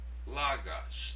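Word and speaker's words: λόγος: And you'll notice here the acute accent in the word logos, right over the omicron. It simply means that syllable is stressed. Logos. Did you hear how I stressed the first syllable?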